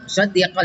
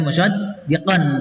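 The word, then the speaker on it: مُصَدِّقًا لِ: Musaddiqal ini yang merah, tidak dibaca musaddiqan tapi musaddiqal lima ya.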